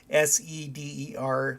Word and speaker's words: seder: name of the the meal itself the seder s-e-d-e-r but it's pronounced seder that's what i knew but i